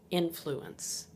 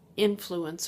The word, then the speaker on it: influence: Well, if it's used as a noun, the emphasis is on the first syllable. Influence. Influence. Emphasis on the first syllable. For example, I could say, that man has influence over his colleagues.